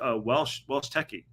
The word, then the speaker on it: Welshity: And Welshity is pronounced Welsh Techie.